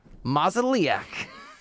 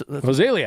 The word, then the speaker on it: Mozeliak: And they want to bring in ex-Cardinals GM, these guys, John Mozeliak. John Mozeliak. Butchered it as a consultant. And they're, I totally, wait, say it again, Versh. John Mozeliak. Mozeliak. That's Mozeliak.